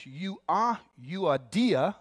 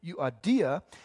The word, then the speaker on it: Euodia: and it says this one lady's name is Euodia, there it is, Euodia, and Suntuke.